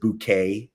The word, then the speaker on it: Bucket: successful than she is her last name is bucket but she pronounces it Bou it's not that she